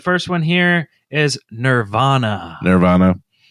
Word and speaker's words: Nervana: Nirvana. It is spelled Nervana if you want to search it. So it's not like the band Nirvana.